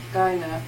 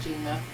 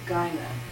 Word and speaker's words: gyne: Gyna, not Gina. What? It's Gyna.